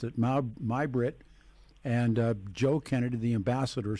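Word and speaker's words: Mai Britt: They pronounced it Mai-Britt.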